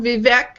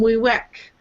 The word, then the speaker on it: Vivek: Well, I've seen, and by the way, his name is, some people call him Vivek, and some people call him Wiwek, and I believe the latter is the proper pronunciation.